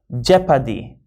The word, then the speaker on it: jeopardy: buy celebrity code okay example jeopardy not jew that's not geo okay it's jeopardy so